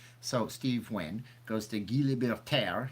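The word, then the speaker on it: Guy Laliberté: So Steve Wynn goes to Guy Libertaire. You have to say it like you're French.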